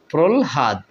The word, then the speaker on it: প্রহ্লাদ: প্রল এ ল প্রল প্রলহাদ ঠিক আছে এরপরে এভাবে বন্ধুরা আপনারা উচ্চারণ করবেন প্রলহাদ প্রলহাদ অর্থাৎ ল টা আগে উচ্চারণ করব পরে হ টা উচ্চারণ করবো বন্ধুরা শেষে যে উদাহরণটি